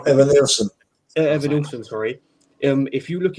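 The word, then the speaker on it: Evanilson: Evan Nilson, sorry.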